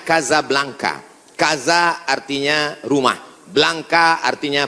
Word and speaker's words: Casablanca: kuliah nama negaranya Maroko ibukotanya tulisannya Casablanca cara bacanya Kasablanka Gaza artinya rumah Blanca